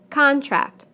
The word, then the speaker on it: contract: Contract, contract. Object, object. Permit, permit. Again, we stress the first syllable in the nouns and the second syllable in the verbs.